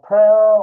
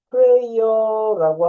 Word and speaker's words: prayer: 원래 pray 하면 기도하다, ER 하게 되면 기도하는 사람. 그렇게 생각하면 prayer 이렇게 발음을 해야 되는데요. 예, prayer라고 하는 게 아니라 기도를 뜻할 때는 짧게 발음합니다. 그래서 prayer. 예, 이렇게 짧게 발음하면 기도가 되고요. prayer 하면 pray하는 사람, 기도하는 사람으로 이해하게 되는 거죠.